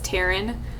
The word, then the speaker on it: Taran: most of you know my name is Taran uh now you know how to say it if you didn't know